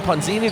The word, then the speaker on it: Ponzini: We're here with Father Tom Ponzini. Did I pronounce that correctly? Absolutely, yes.